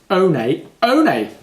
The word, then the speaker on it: One One: can use number 11 1-1 or with some brands it's pronounced own a own a but we'll talk more